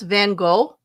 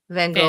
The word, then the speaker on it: Van Gogh: How do you pronounce Van Gogh? Like that? That's how I pronounce it. How do you pronounce it? Van Gogh. Van Gogh. I say go. Like go.